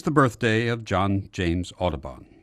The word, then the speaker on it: Audubon: birthday of John James aabon or as his father might have pronounced it Odon the famous artist Frontier